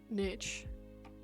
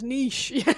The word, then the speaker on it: niche: Tell you what, cheeses your tits when the Americans pronounce it niche. It's niche.